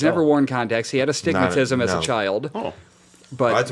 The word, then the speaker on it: astigmatism: part of the word it's not uh stigmatism it's astigmatism like that's one word it's like saying area